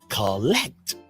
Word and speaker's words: collect: say that after me collect the word collect has two syllables but one syllable sounds louder than the other can you identify that syllable oh yes it's the second syllable this kind of stress